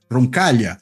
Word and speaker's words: Roncaglia: nome dele andé roncal Lembrando que roncal se escreve com gl né em italiano vai pronunciar que nem LH em português roncal né enfim mas sem